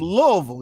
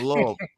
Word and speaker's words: Louisville: You gotta say it like that, Louisville. You don't say Louisville. You don't say Louisville because I've been saying Louisville all my life. You go up there saying Louisville, you're gonna sound like a lame.